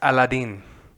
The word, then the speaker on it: Aladdin: And for everyone out there, it's pronounced Aladdin.